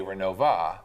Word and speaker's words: Renovo: say Renova. Right. Because that's how my grandma always called it. That's how a lot of the That's people how in people Renova say it. But it is spelled Renovo.